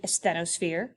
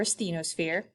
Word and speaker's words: asthenosphere: in our discussion today the asthenosphere or asthenosphere you pick which way you want to pronounce it it's the plastic mantle